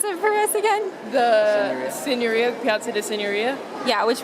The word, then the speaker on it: Signoria: Pronounce it for us again? The Signoria, Piazza di Signoria.